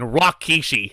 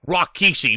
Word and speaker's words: Rikishi: workers dude i'm sorry correction rockeishi as jr is calling him at this point rakishi why does he call him that why does he mispronounce it at this point like